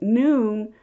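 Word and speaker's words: נון: the ion Olive noon is pronounced as noon like the noon day the letter Hebrew letter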